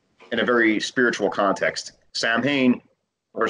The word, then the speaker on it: Samhain: were celebrated know in a very spiritual context Samhain or soin as it's pronounced it's it's supposed to be much more